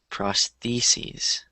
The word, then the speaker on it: prostheses: pris prosthesis prosthesis so singular is prosthesis and then plural is prostheses prosthesis proes Andes perfect